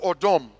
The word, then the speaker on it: Adam: Adam, or Odom, as is the correct pronunciation.